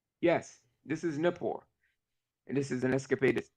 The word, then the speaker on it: Nippur: will this be was is this Napier or Napor or whatever? yes, Nippur. Yes, this is Nippur, and this is an excavated site at So I Nippur.